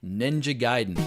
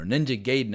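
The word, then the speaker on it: Ninja Gaiden: of the titles specifically ninja giden no ninja gayon as I pronounced it for years back when I was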